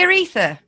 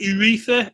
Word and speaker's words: urethra: erection r-e-s-p-e-c-t find out did you say aretha there we go is that how you say it urethra urethra he requested i get